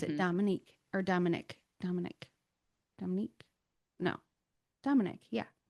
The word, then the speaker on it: Dominique: Dominique or Dominic. Dominic. Dominique? No. Dominic. Yeah. I think they pronounce it like IK at the end.